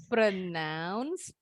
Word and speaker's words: pronounce: Bukan pro, jadi PRO-nya bunyinya bukan pro tapi pre.